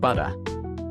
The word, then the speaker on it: butter: For example, take the word butter. Instead of pronouncing a hard T, Australian English uses a softer sound similar to D, example, butter.